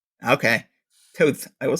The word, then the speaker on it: Toth: his name is pronounced Toth. But I don't know. It's Hungarian, apparently. Okay. Toth.